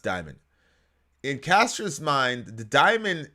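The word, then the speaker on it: daemon: it's not d-i-e sorry it's d-a-e-m-o-n and it's pronounced diamond in castro's mind the diamond appears to be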